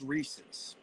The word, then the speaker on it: Reese's: Before we go on there, I gotta say, it's pronounced Reese's.